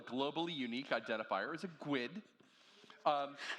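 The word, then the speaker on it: GUID: for example a globally unique identifier is a gwid um not to not not to be confused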